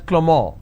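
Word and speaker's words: Clément: it's pronounced that Avril the name Clement is pronounced as clemor in French so the names are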